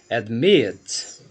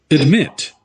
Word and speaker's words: admit: Vamos ver o caso agora desse verbo, o verbo admit. Então nós temos aqui quantas sílabas? 2 sílabas, certo? E eu quero saber a sílaba tônica, stressed syllable, é a segunda. Posso ouvir aqui, ó. Admit.